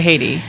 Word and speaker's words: Heidi: you guys know me as Haiti, and that's my good old Norwegian pronunciation.